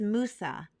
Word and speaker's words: Musa: Hebrew we say Moshe an Arabic it is Musa and in English we pronounce it as Moses Miriam the older sister